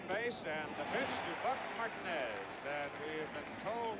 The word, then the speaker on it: Martinez: and the pitch to Buck Martinez. And we have been told now, I was introduced to Buck originally as Martinez. Reggie Jackson's middle name spelled the same way, pronounced Martinez.